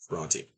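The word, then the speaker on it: Brontë: Um, but there are different pronunciations in North America versus the British Isles. So Bronte is, I understand, how it's typically pronounced in Great Britain. Charlotte was from there, so Bronte.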